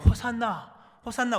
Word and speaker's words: 호산나: 오늘 여인들 또는 수많은 사람들이 찬송하는 내용을 보면 호산나 우리를 구원해달라, 호시아나 뜻이 히브리어로 오 구원하소서, 호시아나, 이게 이제 헬라 발음으로 호산나인데요.